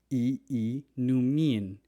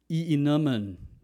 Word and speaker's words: iinumin: You have to pronounce both vowels separately. Iinumin. Using an American accent, you might pronounce that as iinumin, iinumin, or iinumin, or inumin, inumin.